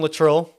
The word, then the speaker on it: Luttrull: into it here, but I'm here with Aaron Luttrull. 2 T's, 2 U's, 2 L's. You got it. Yeah. And always mispronounced. Yeah, and I've been called everything. Did I do it right? You did. Luttrull is like that.